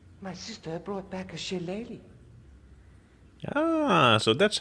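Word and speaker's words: shillelagh: back this plaster my sister brought back a shilleli ah so that's how you say it I've always been calling silelag I've got a red nose we so you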